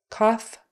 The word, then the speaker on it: cough: Cough, coughing, trough. Those are all off with an F sound on the end.